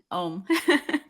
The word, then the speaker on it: Oum: and then the last name is pronounced? OUM.